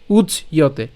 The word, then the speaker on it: উচ্যতে: আমি আবার বলছি, অবিয়ক্ত অয়ম, অচিন্তীয় অয়ম, অভিকারীয় অয়ম উচ্যতে, উচ্চয়তে। হ্যাঁ, আমরা একসাথে উচ্চারণ করবো উচ্চয়তে, একসাথে উচ্চয়তে। যখন ভাঙতে যাব তখনই শুধুমাত্র আমরা এই অংশগুলোকে ভেঙে লিখেছি। ঠিক আছে, তাহলে উচ্চয়তে।